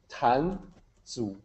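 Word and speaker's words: 壇主: And it's pronounced Tan Zu. So in English, you would probably say Zu, like, Z-O-O. That's about as close as we can get in English. Previous attempts of phonetically transliterating Chinese have used a combination like T-Z-U, Zu, because it has a little bit of that T sound right in front of it.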